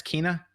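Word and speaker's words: Kena: It's not Kenna, it's Kina.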